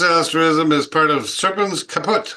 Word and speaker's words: Caput: This asterism is part of Serpens Caput. I would think that's how it's pronounced, right, Kurt? Caput? Yeah. Right on.